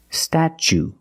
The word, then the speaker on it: statue: cat sta then we use the CH sound stat statue for the second syllable we use the long ooh like Boot and moon ooh together statue this is the Statue